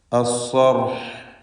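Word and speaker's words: الصرح: അസ്സർഹ്, അസ്സർഹ് എന്ന് ഹായിൽ വഖഫ് ചെയ്യുക. ഹായിൻ്റെ മഖ്റജ് തൊണ്ടയുടെ മധ്യമാണ്. ഹുറൂഫുൽ ഹൽഖ് പലപ്പോഴും തെറ്റിപ്പോവാറുള്ളത് കൊണ്ട് ഹാ പോലെയൊന്നും ആവാതെ ശ്രദ്ധിക്കേണ്ടതാണ്. ഫലമ്മ, ഈ പദത്തിൽ മീം മുഷദ്ദദ, ഷദ് നൽകപ്പെട്ട മീമിനെ മണിക്കണം.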